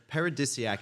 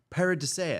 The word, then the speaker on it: Paradisiac: it right it's paradise paradisaic kind of like mosaic paradise it's a tongue